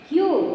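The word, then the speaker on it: queue: क्यू केवल हमारा ये लेटर है क्यू, लेकिन इसकी स्पेलिंग जो है ये होती है, पर प्रोनाउंस उसे हम क्यू के रूप में ही करते हैं।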